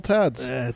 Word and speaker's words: Tad: Yeah, T-A-D. Because it's usually shortened from Thaddeus, so it's shortened to Thad, which is just T-H-A-D, and then it just gets evolved into Tad.